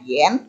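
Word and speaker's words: 炎: Ini bacanya yen.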